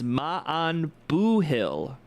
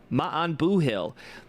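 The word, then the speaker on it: maith an buachaill: The pronunciation is ma'an boohill. Ma'an boohill.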